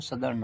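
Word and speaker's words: southern: Similar tortoise from सदर्न, अब देखिए साउथ, वैसे साउथ बोले, लेकिन सदर्न जब इसको प्रोनाउंस करेंगे तो सदर्न होगा, सदर्न।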